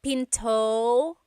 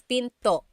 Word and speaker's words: pinto: is p and remember don't forget the gladle stop don't forget to stop the sound at the end that's called a gladle stop being Pinto it's not Pinto it's Pinto stop it at the